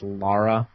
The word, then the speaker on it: Lara: entitled to your opinion but her name is Lara as in lar a Laura Laura Laura not